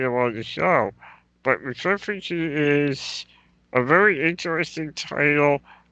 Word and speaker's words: Matriphagy: Is it Matriphagy? It's Matriphagy. I've seen a lot of people Okay, pronounce it differently, but yeah, we're going with Matriphagy.